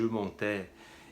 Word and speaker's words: montais: Repare que é sempre o é. A pronúncia é no final. Je montais.